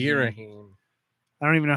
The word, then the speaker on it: Ghirahim: Girahim. Girahim. Girahim. I don't even know how that's spelled to think about it the other way that it could be.